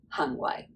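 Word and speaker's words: 行為: So that's just the way to say your conduct or your behavior would be hang wai.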